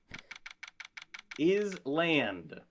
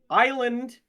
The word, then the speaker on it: island: Island is a word is land. Islitish. We got to get British. Good evening Mr. Wright. Island is derived from another word.